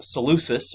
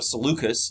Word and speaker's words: Seleucus: And again, the next one is Seleucus, or Seleucus, depending on how you want to pronounce it, and he creates the